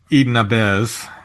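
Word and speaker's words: Eden Ahbez: yeah yeah so there's a song written by Eden abz and I think that's the way his that's pronounced right it is that was initially made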